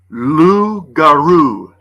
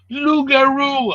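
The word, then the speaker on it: loup-garou: Lou Garou. Lugaroo, I like it. It rhymes with kangaroo, which Mhm.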